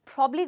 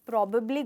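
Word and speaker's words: probably: बहुत लोग बोलते हैं I think it's प्रॉबेबली going to rain, क्योंकि इसमें 2 बी हैं, पर प्रोनाउंसिएशन में सिर्फ सिंगल बी आता है, इसलिए हम कहेंगे प्रॉबली। ग्रेट।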